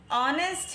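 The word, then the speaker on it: honest: article है ए एन द ऑनेस्ट है एच is silent it is starting from O सो you will write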